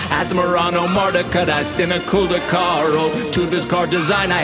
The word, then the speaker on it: Asmoranomardicadaistinaculdacar: creature whose pronunciation's hard let's start with asmorano mardico diced in a colder car it's asmrano marta catast in a cul de carl to this car design